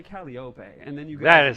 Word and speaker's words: Calliope: so true, dude, because I used to say Calliope. Apparently that's wrong. No, you're correct, because she herself says it like that in her song, so Calliope is okay.